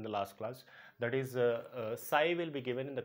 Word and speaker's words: psi: This symbol is called as psi, P is psi, where P is silent.